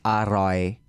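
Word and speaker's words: อร่อย: So just like tasty is like alloy. Alloy. If you want to do it like correctly it's aroy.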